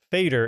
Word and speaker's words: Feder: author's last name, Feder, is actually pronounced Fader instead of Feder like we've been saying it.